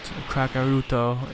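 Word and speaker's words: カカロット: Kakaruto is how it's said in Japanese.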